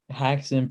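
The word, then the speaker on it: Häxan: Haxan. It's like Jackson, well, with an H, but not spelled the same.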